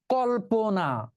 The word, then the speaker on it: কল্পনা: তোমরা ক্লিয়ার হতে পারো কল্পনা এটাকে আমরা কি উচ্চারণ করি এই যে বোঝ এখন লিখতে হবে না পরে লিখো লেখার চাইতে বোঝা উত্তম আমরা উচ্চারণ করি কলপনা বল দেখি কল্পনার মধ্যে